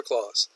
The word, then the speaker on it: Claus: bag full of gifts is a clause clause or clause exact same pronunciation the answer of course